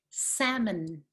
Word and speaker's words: salmon: salmon okay salmon we do not pronounce the l and the second vowel is the weak vowel schwa salmon and you can see